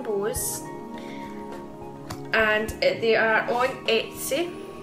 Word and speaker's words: Etsy: and they are on Etsy. I keep calling it Esty, but it's not Esty, it's actually Etsy.